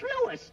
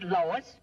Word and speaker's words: Louis: Me name is Louis, not Lois. Gee whiz, everybody interpolates me name wrong. It's Louis.